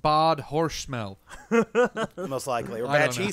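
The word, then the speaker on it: Bad Hersfeld: tell hold on this this town name is bad herfeld it's actually pronounced bod hor smell most likely or bad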